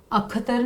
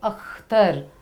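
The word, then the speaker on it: अख़्तर: English में के H, English में जब स्पेलिंग में के एच का प्रयोग होता है तो ख का प्रयोग वहाँ पर किया जाता है। जैसे खान, ख, खान। अख्तर, अख्तर नहीं है ये, अख्तर।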